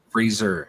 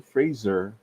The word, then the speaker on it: Fraser: Brendan Fraser, they used up Freezer. Say it right. Brendan Fraser.